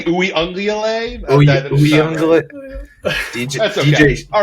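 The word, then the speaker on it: Uiagalelei: corner and the safety away from him, and Uyunglele just completely missed him.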